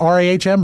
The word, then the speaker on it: Rahm: Open, John Rahm. This is a great story. I think his name is John. Is it Rahm? It's pronounced R-A-H-M, Rahm.